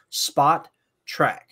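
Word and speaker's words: Spotrac: The name is pronounced Spot Track.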